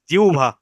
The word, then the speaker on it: জিহ্বা: আমরা বলি জিরবা বা জিব্বা, কিন্তু শুদ্ধ উচ্চারণ হলো জিহ্বা।